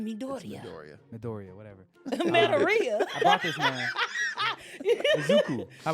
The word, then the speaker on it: Midoriya: You bring Deku, Midoriya, but it is Deku. as well. But yeah, this- Midoriya. Midoriya, I thought it was It's Midoriya.